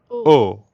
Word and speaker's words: au: Try to hear the difference between an English O, versus the French ou. Au.